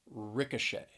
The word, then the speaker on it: ricochet: there's the word ricochet ricochet three syllables stress is on that third syllable ricochet and i know